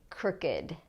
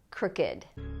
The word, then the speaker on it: crooked: first one is crooked now notice what happens if this were a verb and if it followed the rule for regular past tense verbs we would say crooked crooked but we don't say crooked we say crooked crooked Wen was crooked